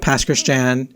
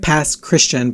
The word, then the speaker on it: Pass Christian: I am originally from the Gulf Coast of Mississippi, a little tiny town called Pass Christian. It looks like Pass Christian, but it's pronounced Pass Christian.